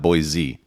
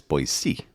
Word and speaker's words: Boise: before we got to boisey I oh yeah boisey I said it right Dad nice job you're like a local now yeah it's not boy Z it's boy c yeah so I before